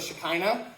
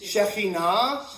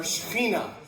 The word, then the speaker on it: Shekinah: Okay, have you guys ever heard, now this is anglicized, it's not correct pronunciation of Hebrew, but have you ever heard of Shekinah? Yeah. Okay, right? In Hebrew, the correct pronunciation or a better pronunciation is Shekinah or Shekhinah.